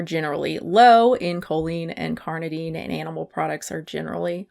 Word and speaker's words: carnitine: So choline and carnitine? That's not right. It's embarrassing how many times I've had to look up how to pronounce this. Carnitine. Carnitine. There ain't no D, bitch.